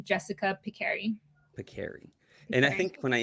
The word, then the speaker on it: Pekari: And I pronounced it Pekari. And he corrected me. He's like, it's Pekari.